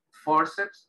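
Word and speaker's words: fórceps: Bueno, entonces, forceps en español sería con acento en la O.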